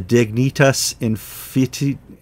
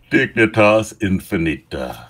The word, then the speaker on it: Dignitas Infinita: And we're going to talk more about that document that's coming out of Rome, the Dignitas Infantia. George, I didn't take Latin. Pronounce that for me. Dignitas Infinita.